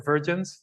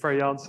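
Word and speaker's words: Verjans: Virgins, but Variance is how you would pronounce it, but it's very difficult.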